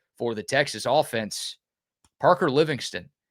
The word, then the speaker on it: Livingston: And can y'all stop hitting me with the Living Stone? It's Livingston. The TV announcers told the story. Craig Way on the radio broadcast told the story. I know how it's spelled. Parker wants it said Livingston.